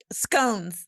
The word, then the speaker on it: scone: Scones. Scon. scon for like I know I'm probably going to get dragged by anyone in the UK if I don't pronounce it right. It's a scone.